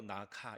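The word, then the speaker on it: นาค: 어 태국 태국의 발음으로 나카 이러는데요.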